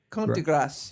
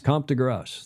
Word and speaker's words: de Grasse: How do you say that? Grasse? Comte de Grasse. Comte de Grasse.